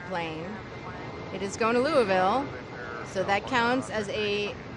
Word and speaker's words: Louisville: A lot of the southern cities that end with ville, the locals pronounce it by sort of swallowing the vul. Asheville, Nashville, Louisville.